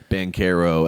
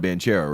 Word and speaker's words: Banchero: ground zero as to who knew his name was going to be banquero and why they didn't tell anybody but i mean because because gavoni all these draft guys titus vasini all these draft guys have been calling him bantera right like i'm not i'm not crazy every single every single person called him banchero until tuesday night well